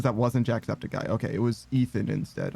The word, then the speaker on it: Jacksepticeye: But he did hire someone on Fiverr to say his name, and they said Jackspedicy. So he will always be Jackspedicy to me.